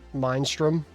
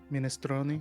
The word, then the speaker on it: minestrone: Or the how would you mispronounce minestrone? Mindstrom. Mindstrom. Oh no, that gave me psychic damage. I hated it. Minestrone.